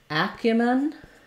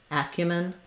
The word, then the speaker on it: acumen: short long short short and then acumin first syllable stress long short short Acumen disastrously uh hope if